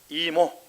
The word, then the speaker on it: 이모: 리모? 리모 아니고 이모.